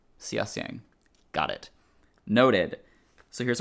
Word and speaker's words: Xia Xiang: Pronounced Xia Xiang. Okay, Xia Xiang.